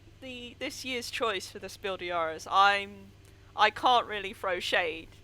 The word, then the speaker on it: Spiel des Jahres: Sorry, I was just thinking about how nobody ever pronounces the S in Spiel des Jahres.